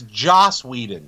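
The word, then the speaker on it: Whedon: Josh Weeden is directing it's like no it's Josh Weeden stop saying it wrong and listen folks and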